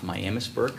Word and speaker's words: Miamisburg: The mayor and I attended mayors and managers at Miamisburg, which they pronounced Miamisburg, which was different to me, but at any rate.